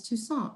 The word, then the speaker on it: Toussaint: immediately thought of because your last name is toussaint right i don't know if i'm saying it